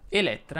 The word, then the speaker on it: Elettra: la è chiusa nicoletta elettra invece vuole la è aperta ovviamente solo la seconda infine ma non credo